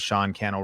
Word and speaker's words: Sean Cannell: And if we are just meeting, my name is Sean Cannell, rhymes with YouTube channel.